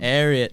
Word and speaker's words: Ariat: Ariat. Yes. Wow. I don't know how to pronounce Ariat it. Yeah. is After, hold on, I learned. Say it I again, learned Gavin. it's after Secretariat.